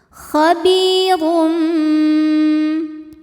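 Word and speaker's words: خَبِيرٌ: harakat saja ya khirum kemudian rnya dihukumi dengan tafkhim ya dibaca secara tafhim Kenapa karena ro ini berbaris di atas yaitu barisnya damah tanwin maka cara bacanya ditebalkan khabirum kemudian ada hukum iqlab karena ada tanwin dammah yang menghadapi huruf ba maka bunyi tanwin diganti bunyi mim sukun jadi m ya khabirum disertai dengung khabirum Bima Ma Mad Thobi'i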